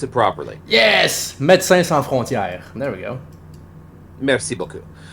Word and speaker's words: Médecins Sans Frontières: Tell us how to pronounce it properly. Yes! Médecins Sans Frontières.